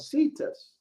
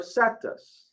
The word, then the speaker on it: Cetus: And here we see the constellation called Cetus or Cetus, however you want to pronounce it.